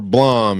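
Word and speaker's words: Blame!: Um and I want to collect all of uh Blame or Blom as people like to call it, but I pronounce it blame in my head.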